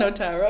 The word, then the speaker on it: Notaro: So we were like, is it Hamtaro? Notaro? Notaro. Notaro, Hamtaro. Okay, I got it.